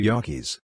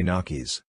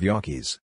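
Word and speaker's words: gnocchi: pie back to yakis I think it's the spelling that scares off the Americans yakias spelled gnocci the g is silent so some people say nakis which is wrong the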